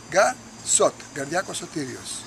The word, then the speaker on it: Garsot: name is it becomes garcott from the first syllable of gar and the first syllable shot altogether gar shot thank you olympic spirit